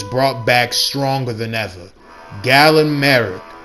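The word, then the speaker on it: Galen Marek: Gallen Merrick, pronounced as Gilead Merik in their account, code named quotequote stall killer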